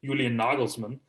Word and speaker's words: Nagelsmann: actually as the right nikolai and the german pronunciation julian nagelsmann and he ended up becoming the bayern munich